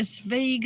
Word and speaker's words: Zweig: Is it a Svig, a Swag, a Zweig. Swag? What is it? Zweig. Zweig, yeah.